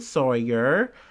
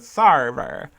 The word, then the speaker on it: Sarver: But this is an update on Robert Sawyer. Or Sarver. Gosh, was I saying his name wrong in the other episode? Robert Sarver. Sorry. Like server, but Sarver.